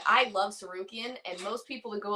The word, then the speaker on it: Tsarukyan: All right, however you say that name, Tsarukyan. All right, from Armenia. So R-O-K? Yeah, R-O-C-K. All right, the S is silent.